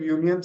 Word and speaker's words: union: Again the pronunciation of union starts with Y.